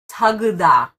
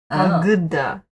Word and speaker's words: Тағы да: So this, see this letter? Without this making it an F, this in Russian would be G. Oh. And this, that's like a lowercase B to you guys in an L or an I. This is actually one letter. And it's pronounced as U.